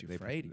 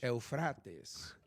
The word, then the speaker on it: Euphrates: Oh, yes, Euphrates. That's how they pronounce it in English. Euphrates.